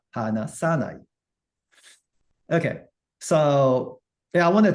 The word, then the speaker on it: 話さない: Sa gets stress. The stress moves from the na, hanasu to sa. hanasanai.